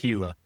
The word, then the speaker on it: Gila: So it's like Gila monster, but it's pronounced Gila. Okay. Yeah. I'm just gonna have to FYI. Yeah, I would have been, Gila, looking it up for sure.